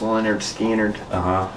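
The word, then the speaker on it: Lynyrd Skynyrd: It's pronounced Leonard Skynyrd.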